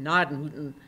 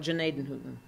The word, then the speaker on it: Gnadenhütten: The Germans would pronounce it Gnadenhütten, but the Moravians in Ohio call it Gnadenhütten.